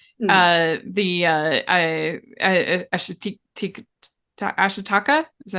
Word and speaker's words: Ashitaka: the Ashitaka, is that how you say it? Yeah, Anyway, Ashitaka, yes.